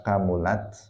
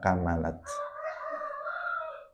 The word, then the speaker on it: kamulat: Falamma kamulat, bacanya bisa kamulat, bisa kamalat, bisa kamilat. Jadi memnya bisa di dhammah, di fathah, bisa di kasrah.